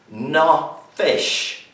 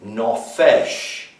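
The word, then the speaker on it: נפש: for the word soul is the hebrew word no fish non fey sheen that's how it's spelled non fei sheen no fish it's called soul now do you find genesis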